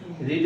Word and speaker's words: read: রিড এর second form আছে রিডে, spelling এক কিন্তু pronunciation রেড, রিড রেড, রেড মানে লাল না,